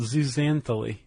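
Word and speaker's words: zooxanthellae: I want to pronounce it. Okay, go ahead. Uh it's called zuzantholy.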